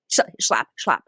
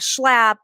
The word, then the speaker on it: Schlapp: It is a video of Matt Schlapp, who I don't know if you know is he's the spokesperson for the Democratic Party. Sure, I just had to say his name. Schlapp.